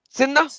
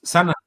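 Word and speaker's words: سنة: Usama, how do you say year in Arabic? Sinna? Sana. No, Sana.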